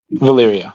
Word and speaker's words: Valyria: But How do you no pronounce official title. Valyria, by the way? Is it Valyria? Valyria, yeah.